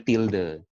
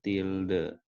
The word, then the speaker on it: tilde: Ini bacanya tilde. Ini bacanya tilde, gitu ya.